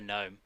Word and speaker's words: gnome: oh sorry no no the gnome it's not jino because it's a silent g echo check five okay